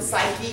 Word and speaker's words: psyche: context of the word so we don't hear the p it's the y of